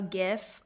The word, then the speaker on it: GIF: Am I saying it right? GIF? It's GIF. We did a debate about this a long time ago. Remember that? Was that on a Rach Talk? GIF or GIF? Yeah, it's GIF.